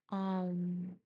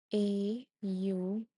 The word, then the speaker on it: Om: The second part is U, pronounced as O.